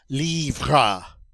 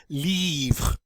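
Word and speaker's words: livre: a leave okay now with leaf it r ends in r e but we are not going to say uh leavra all right this word that e is silent the word ends with an r and that's where we stop we say leave leave don't forget that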